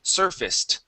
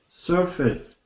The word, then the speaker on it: surfaced: is surfaced okay so instead of saying surfaced okay the AC here will actually be pronounced like an a short I and an S okay so this is surfaced surfaced okay very good all right